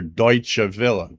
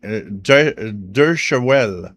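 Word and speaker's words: Deutsche Welle: Because he was like Dur. I was like, "No, that's not how it's pronounced. It's Deutsche. And he says, "How do you know?" Cuz when you listen to shortwave and heard Deutsche Villa ID all the time, you know it's Deutsche Villa. That's what it sounds like. That's how you pronounce that.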